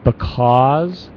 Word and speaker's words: because: a few things there Jorge when you say because try to get that book because all that vowel there because because because because because yeah maybe you need to stretch it a little bit more drop your jaw because because yeah good